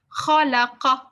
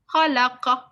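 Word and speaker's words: خَلَقَ: But it's not ka. Ka is a different letter. Qa, qa, qa, qa, qa. It's from the throat. The sounds coming from the throat. Khalaqa, khalaqa.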